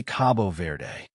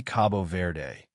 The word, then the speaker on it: Cabo Verde: Or should we say Cabo Verde? Even the name sparks debate. Portuguese speakers usually say Cabo Verde, while many English speakers pronounce it Cape Verde.